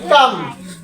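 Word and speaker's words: calm: দেন এই যে এই কাম এখানে কাম বানানো আছে আপনারা দেখতেছেন সি এইচ এল এম কাম এটা কাম না হয়ে কাম কেন হলো কোন শব্দের শেষে যদি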